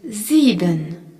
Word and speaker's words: sieben: Le nombre 7 se dit sieben, S-I-E-B-E-N, sieben. On y retrouve le S suivi d'une voyelle en début de mot qui se prononce Z, ainsi que le I